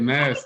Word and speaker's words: Masta: Yeah, I be master. thinking there's Like an Matt, accent on there, and that's the problem. you gotta say it like Master P. That's why I say like master.